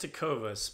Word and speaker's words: Tecovas: say they are the brand I say it to covas kotoba you know it with the action on the second syllable but I think it's up to interpretation